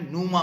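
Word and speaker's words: πνεῦμα: Greek word दिया है नमा उसको पी साइलेंट है इसमें नमा बोलते हैं इसको नमा नुमा मींस इस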